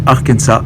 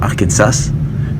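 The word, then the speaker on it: Arkansas: l'arkensa oui on prononce arkensa et non pas arkensas puisque cet état a été fondé par des Français et donc on ne prononce pas le à la fin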